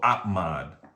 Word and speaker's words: OPMOD: So, OPMOD.